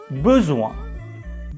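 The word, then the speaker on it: besoin: so repeat after me buzuwan buzuwan bu here are the details you see there is no accent on e so we pronounce it as u repeat after me uh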